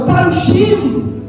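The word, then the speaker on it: פרושים: Já os fariseus que no hebraico se pronuncia parchim, é o nome para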